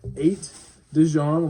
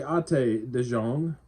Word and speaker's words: Ate de Jong: Director is Ate de Jong, like eight, or it could also be Ate de Jong.